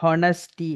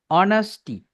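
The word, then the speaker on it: honesty: இதுல எச்ச நாங்க ப்ரொனவுன்ஸ் பண்ணக்கூடாது. ஹானஸ்டி என்று சொல்லக்கூடாது. எப்படி சொல்லுவோம்? ஆனஸ்டி.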